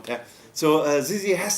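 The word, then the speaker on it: Zizzi: Newcastle if you're interested it's sizzy I don't know if you have been there it's Italian on the did I pronounce it right I probably have said it the wrong way Z zzy yeah that's the one yeah so zizzy has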